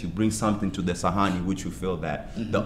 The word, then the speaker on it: Sahani: So Sahani, and it's spelled S-A-H-A-N-I. Sahani. Just how it's spelled is how you say it.